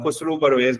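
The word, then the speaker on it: خسرو پرویز: परवेज भी कहते हैं तो खुसरो इज a perfect easy way state of pronouncing it because I वास trying to find its प्रोनाउंसिएशन in English everyone has ह ओन प्रोनंसिएशन there as well.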